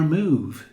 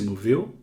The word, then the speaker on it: move: Este som de U é bem longo. Move. Move. Igual quando você pronuncia comida em inglês. Food. Food. Ou bota. Boot. Boot. Diferente de bom. Good. Good. Ou então diferente de livro. Book. Book. Aqui é longo.